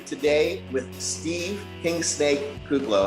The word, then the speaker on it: Kuclo: you get it's uh they usually throw an extra l in there like or the mixed l